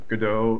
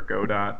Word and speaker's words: Godot: Um, so good example is Godot or Godot, depending on your pronunciation.